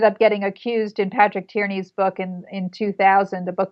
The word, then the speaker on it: Tierney: Patrick, is it Tierney? Is that how you pronounce it?